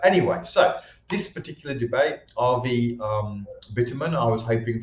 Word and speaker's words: Avi: see is uh so it's spelt avi but pronounced rv so rv uh versus lauren southern uh here rv versus